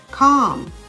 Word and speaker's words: calm: how about ammon a-l-m-o-n-d calm c-a-l-n half h-a-l-f chalk c-h-a-l-k should s-h-o-u-l-t walk w-a-l-k the l in each of these words is silent silent and words autumn